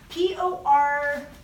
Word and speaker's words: Porges: Porges. Porges, yeah, but it's spelled Porges.